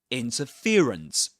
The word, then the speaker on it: interference: Interference, interference. So, the main stress goes on fear, the syllable fear. And the secondary stress goes on the syllable in, interference, interference.